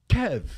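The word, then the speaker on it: Kyiv: noticed something this morning kiev now it's kev right and it used to be spelled k-i-e-v and now it's spelled k-y something uh now it's a lubricating country it has an x squared it's silent right oh kenneth and you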